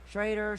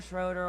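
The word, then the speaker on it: Schroder: duo thing with uh ricky schrader schroeder i always say the name wrong just call him silver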